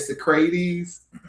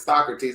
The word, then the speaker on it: Socrates: was when Michael um mispronounced Socrates and said Socratis [clears throat and laughter] in in the movie and um and Quincy said that you get you're saying the name wrong. It's Socrates.